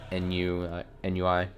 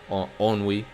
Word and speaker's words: ennui: NUI instead of ennui. Terrible French pronunciation.